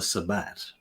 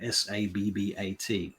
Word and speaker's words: Sabbat: always get confused anyway then there is the Sabbat um or the Sabbat or however you want to pronounce that s-a-b-b-a-t not to be confused with Black Sabbath um